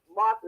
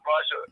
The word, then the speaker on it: Martha: I'll just say Sister Martha is a beautiful sister because we've been calling her name wrong all the time and she never corrected me. I know Brother Mark loved me, so it don't even matter. I know I've been doing Sister Marsha for quite a few years now.